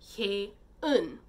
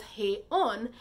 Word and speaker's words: Hye-eun: murdered girl, her name at birth was actually Hae-un.